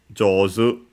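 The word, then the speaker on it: 上手: the opposite of heta, jozu. Show it also here. Jozu, accented on the last one, which is skillful.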